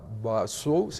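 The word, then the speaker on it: Bazoum: de los pocos líderes que quedaba, que era Basu, así se pronuncia el nombre, y El anterior el anterior presidente, presidente.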